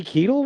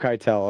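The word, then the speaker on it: Keitel: sweet boy Little Nikki who portrayed it hary Keel was his name he's a youel oh kitel okay yeah yeah I thought I heard it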